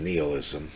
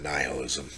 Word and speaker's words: nihilism: upon seeing man today Nisha used the term neoism or many people will pronounce it nihilism this term may be